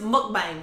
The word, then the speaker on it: mukbang: long time to say that word yes it's pronounced mukbang mukbari okay so as y'all know um we're